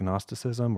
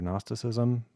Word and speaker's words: Gnosticism: And he was getting into, I don't know if you're supposed to pronounce the G in the word, but Gnosticism or Gnosticism. So I think agnostic, but without the A on the front.